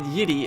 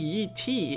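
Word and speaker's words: Yi Ti: So yeah, as I said, third time now, Yiddy is probably wrong pronunciation, but Yi-Tai is probably also wrong. I think Yi-Ti is probably the best pronunciation possible, because if you look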